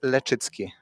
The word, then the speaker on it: Leczycki: With L. So it's lechitzki. Letitski.